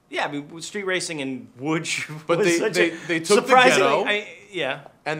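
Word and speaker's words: Łódź: know what Hamsterdam is there is a city in Poland and it's called wood it's it's spelled loads though that's kind of DZ somehow makes wood and well you know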